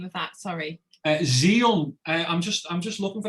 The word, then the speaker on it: Zhiyun: Xeon. I'm just looking for how it's spelled, because it's spelled funny.